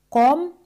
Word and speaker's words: comme: As en français comme ça com la letterra e al final de la palabra no se pronuncia.